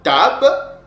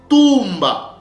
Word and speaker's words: tumba: Donc, ces mots-là, ce verbe-là, ne se prononçait pas tab, mais ça s'est prononcé tumba.